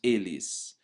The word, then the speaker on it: eles: So they feminine is elas, and they masculine is eles, right? But we would actually pronounce eles.